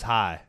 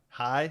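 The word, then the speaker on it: Haig: the Middle hide h-a-i it was high high it was yeah because I kept thinking sit that's why I said six I was thinking Sid hag and it's spelled h-a-i-g I thought it was like hide like h-a-y it was definitely h-a-i no I thought it was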